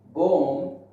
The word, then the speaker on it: bomb: Now, if we talk about B, at the end of the word, okay, at the end of the word, after M, B is silent. Like comb, tomb, bomb, womb.